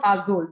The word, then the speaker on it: Aazol: And here it's all about reliving the love and affection showered to you by your IG through the food of Azol.